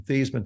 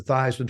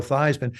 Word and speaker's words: Theismann: But we think by just simply changing the pronunciation of your last name from Theismann to Theismann to rhyme with Heisman, we can get you that trophy. And so that's how I became Joe Theismann.